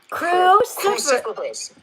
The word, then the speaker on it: cruciferous: Okay. That's your first syllable. Now you see what I did. Hey crew, gather around. Crew is the first syllable. Crew. Hey, crew. Cruciferous.